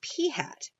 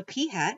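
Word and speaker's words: p̂: one of them is P hat P hat notice how that looks it looks like a little p with a little hat on top of it P hat is the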